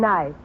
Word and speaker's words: knife: the word is nice k is the silent letter k is always silent in front of n is that so what